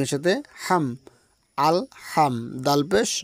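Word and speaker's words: الحمد: আল হাম দাল পেশ দু আল হামদু এখানে কিন্তু অনেক ভাই ও বোন রয়েছে পড়তে গিয়ে এখানে বলে আলহামদু বা আলহামদু এরকম উচ্চারণ দেয় এটা এ উচ্চারণ হবে এখানে বলবে আলহাম লম্বা হা উচ্চারণে গলার মধ্যে শোষ করে শব্দবে হা এরকম হবে তাহলে আলহামদু লাম জের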